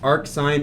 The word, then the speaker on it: arcsin: Just know that it's pronounced arc sine.